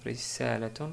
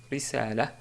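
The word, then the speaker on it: رسالة: On peut prononcer aussi, et d'ailleurs c'est plus correct, quand on s'arrête sur le mot risalatun, on dit risala, risala, car on a une ta marbouta à la fin.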